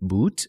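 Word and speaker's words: Boutte: played again by Denise boot I looked up the pronunciation it seems to be boots it's French Eduardo Dorado senior Bruce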